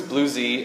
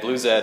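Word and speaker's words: BlueZ: ask Marcel Holman the blues maintainer and he says nobody knows so Blues Blue Z and Blue Zed are all legitimate wanted to give some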